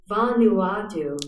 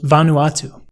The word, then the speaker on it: Vanuatu: of these two options is Van Vanuatu I butchered that Vanuatu Vanuatu now in the middle of these two op